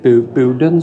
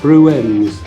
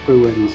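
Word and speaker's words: Bruern: So, like I said, was it Bowden's we're in? Bruens, I've been saying it wrong. Bruens we're in, and it's to say between Chipping Norton and on the road to Chadlington it is.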